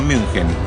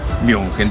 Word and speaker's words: München: München. No querés decir en alemán, decís Múnich. Estoy cansado de escuchar inventos como Múnich, Múnich. No existe eso. Es Múnich en español y si no, München.